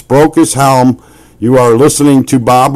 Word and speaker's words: Brocas Helm: And I I'm I'm going to pronounce it correctly, guys. It is Broke as Helm. I I'm I'm a a Midwesterner, and sometimes we just don't get it right. It's Broke as Helm.